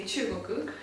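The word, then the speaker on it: 中国: Well, in Japanese we say chugoku, and chu, the character for chu is like translates to middle or center.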